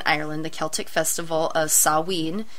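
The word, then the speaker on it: Samhain: ancient Britain and Ireland the Celtic Festival of saween it's spelled ma s m ha a i n but it's pronounced saen was observed on October 31st at the end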